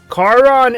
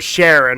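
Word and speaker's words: Charon: Chon is or Sharon, however you want to pronounce it, is the name of Pluto's moon.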